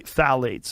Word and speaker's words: phthalates: how you spell it you say phthalates and phthalates are a